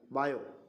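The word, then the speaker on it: Biot: इसकी CGS unit होती है बायो, ये टी साइलेंट है ना, बायो बोलते हैं इसको, ठीक है, या बाई, ठीक है।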